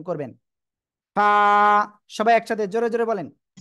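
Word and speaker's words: ف: দাঁতের আগায় লাগাবেন লাগিয়ে হালকা বাতাস বের করবেন উচ্চারণ করবেন ফা সবাই একসাথে জোরে জোরে বলেন ফা শোনেন আগে কিন্তু যদি আপনি বাতাস বের না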